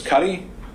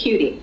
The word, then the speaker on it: Cutie: Is it Miss Cuddy? It's Cutie.